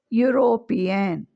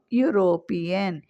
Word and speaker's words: European: So European. Okay. So here also u european even the word starts with e we are not pronouncing e we are pronouncing u.